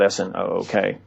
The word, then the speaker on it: Snook: It's spelled S-N-O-O-K.